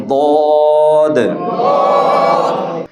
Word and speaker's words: ض: তো দদের উচ্চারণ একটু মোটা করে বলতে হবে, এটা জাস্ট একটু মনে রাখবো ইনশাআল্লাহ।